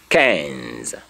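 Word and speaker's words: quinze: You only end your pronunciation in the Z. So 15 in French is Kenza. Kenza. Kenza is spelled Q U I N Z E. That is Kenza.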